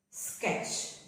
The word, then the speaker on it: sketch: Sketch. Stitch. Catch. Watch. Sketch. Stitch. The T is silent.